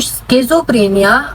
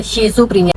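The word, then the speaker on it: schizophrenia: तो स्किज़ोफ्रेनिया और शिज़ोफ्रेनिया pronunciation दोनों के आप करवा सकते हो, स्किज़ोफ्रेनिया और शिज़ोफ्रेनिया की।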